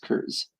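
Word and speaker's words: Kurs: And so those ones would be, somebody explained to me, are actually called the curs. So it's spelled it's spelled K-U-R-S, curs.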